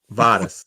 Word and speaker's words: Vadis: Vadis. That's how. Yeah, Vadis. Vadis. Okay, that's pretty straightforward then, because that's kind of how it's spelled.